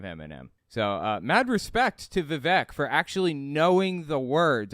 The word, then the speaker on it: Vivek: And he talked about the fact that Vivek Ramaswamy, I'm sorry, his name's pronounced Vivek.